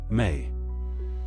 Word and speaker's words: Me: Inana carried in her boat the mi pronounced may.